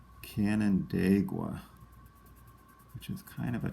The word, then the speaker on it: Canandaigua: And this one, I believe, is pronounced Canandaigua, which is kind of a tough spelling. Let's go through it real slowly. Canandagua.